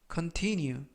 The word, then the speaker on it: continue: 뜻이 되겠습니다 2번 표현은 continue continue continue라고 발음하시면 되겠고요 이때 강세는 중간 부분에 있는 알파벳 아의 강세가 있습니다 그래서 뉴 라고 발음하시면 좋겠고요 품사는 동사 뜻은 계속되다라는